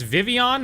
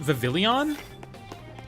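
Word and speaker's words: Vivillon: It's Vivian, not Vavillion.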